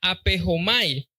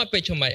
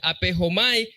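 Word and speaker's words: ἀπέχομαι: Esa palabra significa, se pronuncia apejomay, no apechomay, apejomai.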